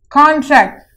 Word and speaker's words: contract: In nouns, we have the emphasis on C-O-N, the con here. And in verb, we have emphasis on tract here, which is in verb category.